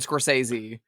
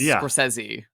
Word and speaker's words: Scorsese: Everyone says Martin Scorsesei but it's Scorsesei. It's with it's a hard Z sound cuz they're both Italian.